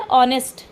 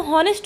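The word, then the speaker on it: honest: ऑनेस्ट। उसको क्या पढ़ते हैं हम? ऑनेस्ट। लिखा तो हॉनेस्ट होता है लेकिन पढ़ते ऑनेस्ट हैं। तो क्यों पढ़ते हैं? क्योंकि एच जो है साइलेंट है।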